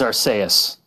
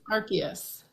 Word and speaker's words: Arceus: assuming this is See, that can't be a hard C. It is a hard C. Oh jeez. I I think the name sometimes Nobody can agree on how to say it. I say Arceus. Well. Loonsar says Arceus. But I want to say Arcaeus because it's clearly named after Deus.